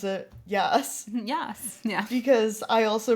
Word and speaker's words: Jas: So, I thought that she was Jas's, or as I pronounce it, Yas.